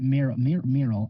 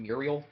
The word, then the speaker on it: Muriel: this uh, lady named Mir Mural. I think I mispronounced her name the last time, so let me just quickly check. Like the courage dog woman, Muriel.